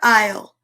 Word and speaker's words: aisle: A is for aisle. The bread aisle has not been cleaned in eons, and 9 tiny beasts meet to have a feast. Aisle. You might not think it's spelled that way.